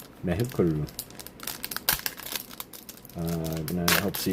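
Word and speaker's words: メェークル: Uh, yeah, it's pronounced Meuru. Uh, cry of a goat plus a vehicle kind of I think. Interesting. Pronounced meuru. Meukuru.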